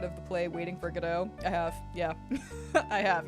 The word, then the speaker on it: Godot: It's Godot! Get it correct! It's not Gobo, it's Godot, Your Honor.